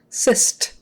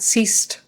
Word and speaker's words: cyst: z sound Cy um that c is like an S the Y is like a i cyst cyst not cist or yeah don't say cist cyst it's got to be cyst not cist not C it's